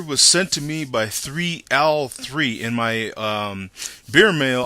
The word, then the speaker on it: 3l3: sent to me by 3L3. In my beer mail, I had got his name wrong. I thought it was 313. Uses a lowercase L, looks like a 1.